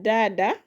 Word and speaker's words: dada: Uh we have here dada. Dada. Dada also has two syllables. So from the end it will land on the first one which is da. So it is dada dada dada.